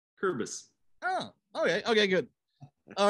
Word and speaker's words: Kuerbis: Kuerbis. Close. The one of the vowels is silent, so you can drop the U or drop the E. Kuerbis. Kuerbis.